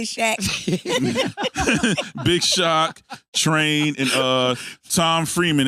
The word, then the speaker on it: Shaq: but but it spell it spells Shaq but his name is shock though but you know it